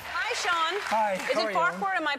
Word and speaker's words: Farquhar: Is it Farquhar? Am I pronouncing You're pronouncing it perfect.